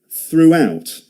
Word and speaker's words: throughout: See the W sound in the middle of that? Throughout.